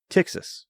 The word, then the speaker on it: Ptyxis: know announcing this um is tix txas and it does start tax not taxes although that's very fun to say um and it does start with a P which is silent so that makes it very confusing just like terod P pterodactyl that bird thing right yeah that's right